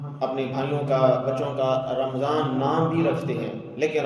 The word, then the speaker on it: رمضان: رمضان کے ساتھ پکارے، رمضان کے ساتھ نہیں، میم کے اوپر جزم کے ساتھ نہیں، میم کے اوپر زبر کے ساتھ۔ یہ بعض لوگوں کی غلطی کرتے ہیں، بلکہ اکثر لوگ غلطی کرتے ہیں، رمضان بولتے ہیں۔ دوسرا یہ ہے کہ